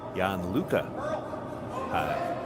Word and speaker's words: Jan Luca: And we now think it's Jan Luca is the pronunciation for the.